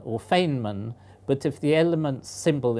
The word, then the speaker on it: Feynman: of people are not sure whether you should pronounce it feeman or fainman but if the element symbol is FY they